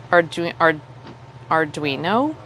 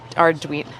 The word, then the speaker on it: Arduino: Arduino? Is that how you pronounce that? Arduino.